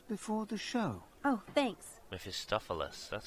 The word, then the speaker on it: Mephistopheles: Mephistopheles. That's how you pronounce it.